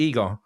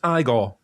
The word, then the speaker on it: Igor: Oh, so you must be eager. No, it's pronounced Igore.